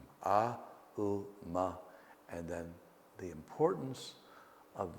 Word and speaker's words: Aum: So it's often pronounced Om. It's actually Aum, A, U, Ma, and then the importance of the silence that follows it.